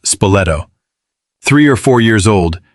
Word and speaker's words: Spoleto: One story, recorded by those who witnessed it, involved a small boy from the nearby town of Spoleto, pronounced Spoleto, three or four years old, named Matteolo.